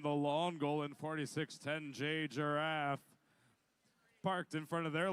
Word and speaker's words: Giraffe: On the red line says 4610J Giraffe Robot Rev, which they have requested that we pronounce it Giraffe very explicitly.